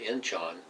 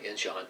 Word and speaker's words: Incheon: And then MacArthur had a big landing at Incheon, Incheon, yeah, Incheon, I'm saying it right, which took everybody by surprise.